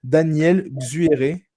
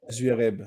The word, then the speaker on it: Xuereb: Alors, j'ai aucune idée de comment on prononce ce prénom, mais Daniel Xueré. Si je dois être ça. Ah, Xuereb, voilà.